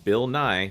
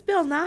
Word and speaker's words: Bill Nye: he time he is Bill n his name rhymes with science guy he's got a song